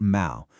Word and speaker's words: mal: The code is the powerful Latin root mal, which rhymes with pal, gal, or shall.